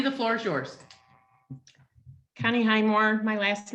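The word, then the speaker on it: Hymore: Highmore Connie the floor is yours Connie Highmore my last name is spelled h-y-m-o-r-e uh we live at we have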